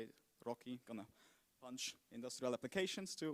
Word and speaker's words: RoCE: And finally, the one we picked, RoCE, kind of, that's how you say it, RoCE, gonna punch industrial applications to 100 gigabits per second.